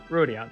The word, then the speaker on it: Rubiont: Rubiont. That's how it's pronounced.